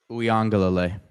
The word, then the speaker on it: Uiagalelei: Good defensive ends with the two Poly kids, including how do you pronounce his last name, number 10? DJ's brother. Uiagalelei.